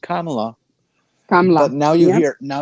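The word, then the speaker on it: Kamala: made it very clear that the name is pronounced kamla but now you hear now you hear the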